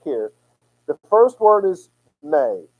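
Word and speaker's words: μή: the first word is May it's like the month of May it's actually spelled me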